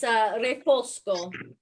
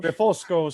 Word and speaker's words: Refosco: And just to clarify, it's Refosco. That's So how you say it in Italian. Refosco.